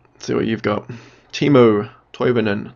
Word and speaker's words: Toivonen: Timo Toivonen. Toivonen? That's how you pronounce it.